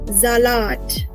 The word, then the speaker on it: Salat: Remember, it is starting with the S, so we'll give the pronunciation of Z. So what will it be? Der Salat.